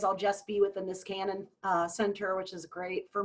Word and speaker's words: Niskanen: So soon that will just be the Niskanen, and that's how you say it, Niskanen Center.